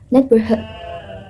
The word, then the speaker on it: neighborhood: The correct pronunciation is neighborhood. Neighborhood in American accent, and while in British accent is neighborhood. Neighborhood. The difference is the R sounds. In American accent, pronounce the R clearly, while in British accent does not.